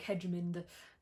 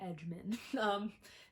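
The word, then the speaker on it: Edgmon: I always want to say H.E. Edgemon. There's also no D at the end, so I don't know why I keep pronouncing it like Hedgemond, H.E. Edgemon.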